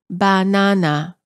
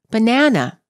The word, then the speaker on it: banana: banana is pronounced as banana all three syllables are stressed equally in English we pronounce the word as banana the second syllable is stressed the vowel within the